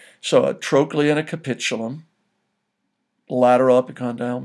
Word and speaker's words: trochlea: Remember, if you will, the CH letters in any Latin word are pronounced as the letter K. So a trochlea and a capitulum, lateral epicondyle, medial epicondyle.